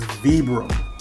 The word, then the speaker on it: Vibram: Vibram outsole, that's how you pronounce that brand. It's not Vibram, it's Vibram.